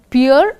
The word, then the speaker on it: Pierre: Now, first of all, understand this particular story is based on two characters, Pierre and Jean. Actually, the way these names are pronounced, are, this is to be pronounced as this name.